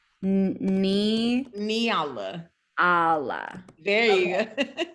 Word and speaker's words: Nyala: And then I'm going to tell It's you how to pronounce my name. So it's right. It's Nyala. Nyala.